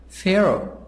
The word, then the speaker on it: Pharaoh: o very young Pharaoh Pharaoh H silent P H and F a sad sound Pharaoh king of ancient